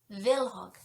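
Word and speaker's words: Kvilhaug: was mildly curious and much like the word knife in the English language the K is silent so it's villog which is a cool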